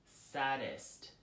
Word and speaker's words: sadist: I don't know what you're talking about that's sadist ad is T not s ad D est